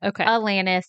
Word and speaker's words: Alanis: I said Alanis and Alanis. And so I looked it up. The correct way to say it is Alanis.